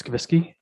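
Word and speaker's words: Skubicky: for me sir again it's not the way it's pronounced s-k-u b is in bravo i c-k-y and it's skavisky perfect thank you thank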